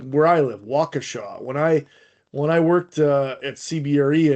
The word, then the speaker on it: Waukesha: Like where I live, Waukesha. When I worked at CBRE and I was working with people around the country, they would always say Waukesha, and I'd be like, it's Waukesha, you son of a bitch.